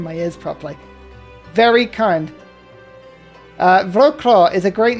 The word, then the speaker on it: Wrocław: If you've given me the name, I shall call this one Wrocław. You see, I put the V in because I know it should be pronounced like that, but it's actually spelled like that.